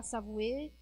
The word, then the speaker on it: Savoie: La Savoie, c'est la prononciation. La Savoie. Standard. Et là, c'est Savoué. Ah, oui. La Savoie seria a pronúncia correta, e Savoué é como eles pronunciam em Chambéry, por exemplo.